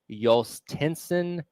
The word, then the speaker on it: Jhostynxon: I believe you pronounce his name Yolstenson Garcia, but I had to look that up because I sure was fooled by the way you spell his name.